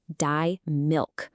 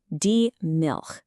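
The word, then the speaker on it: Milch: The word is diil. Now, you want to pay attention to that soft ch sound at the end. It's not a hard k sound like in milk.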